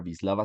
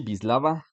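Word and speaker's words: Wisława: de la poeta polaca visislava SIM borska Sí ya sé que suena raro pero se pronuncia así visislava simbor no no sé polaco pero pues así se pronuncia no y el poema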